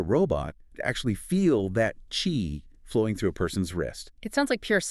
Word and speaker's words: Qi: roll their eyes, is chi, right? Spelled Qi, but pronounced chi. Exactly. It rhymes with tree.